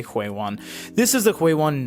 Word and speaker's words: Huion: If you guys need a quick sound bite, the actual name is Huawei one But because we are English speaking, we'll do the best we can with the pronunciation without being too overly colorful with it and just say Huawei one.